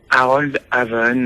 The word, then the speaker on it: Harold Haven: Harold Haven à la française. Voilà.